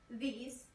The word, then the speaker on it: these: When we have the word these, we have to know that this has a different sound too. The sound is E. If you notice, I spread my lips. So, let's pronounce these and these.